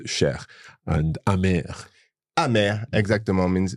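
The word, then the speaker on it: cher: c h e r although it ends in e r you pronounce Sher and am am exactor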